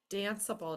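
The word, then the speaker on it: danceable: drop your e dancable now this is one that is confusing because you need to keep your silent E the silent E is there to make the C say s and if you dropped it it wouldn't say that anymore that is kind of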